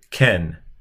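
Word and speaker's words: כֵּן: Well, it's this word, ken, ken. This is a final noon, so ken is the word, and that means yes.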